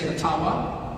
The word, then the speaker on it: Ottawa: who is is in Ottawa or as we say atawa which by the way is the correct pronunciation according to my friends